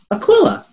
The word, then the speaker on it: Aquila: They are both from, if I can grab it, Aquila.